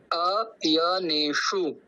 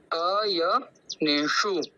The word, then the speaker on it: अयनेषु: आप देख रहे होंगे श वो मुर्धन्य सकार है और उस मुर्धन्य सकार के अंदर छोटा उ का मात्रा है यानी कि हर्ष उकार है तो हम उसका ज्यादा लंबा उच्चारण नहीं करेंगे और जो मुन मुर्धन्य सकार है उसके अंदर हमको हमारी जीवा को तालव्य की ओर ले जानी है और ष बोलना जैसे ट ठ ढ ष इस प्रकार से तो देखिए एक बार